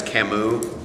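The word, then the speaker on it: Camus: The guy, the way you uh pronounce his last name is Kamu. This French guy, Albert Camu.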